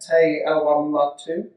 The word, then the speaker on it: Te Awamutu: Te Awamatu?